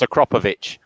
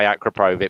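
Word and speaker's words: Akrapovič: a crocodile yeah they're they're pronounced akrapovic if you go to indigo a lot of people say acroprovide but everyone knows what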